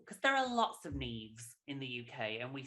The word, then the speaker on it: Niamh: Niamh, I was like, it is Neve, isn't it? And you're like, 10-4, it is in fact Neve.